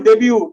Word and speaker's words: debt: डेब्यू इस डेब्यू T silent है.